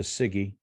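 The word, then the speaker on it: CIGIE: Department of Justice the Siggy and it's c-i-g-i-e it's pronounced Siggy but uh c-i-g-i-e uh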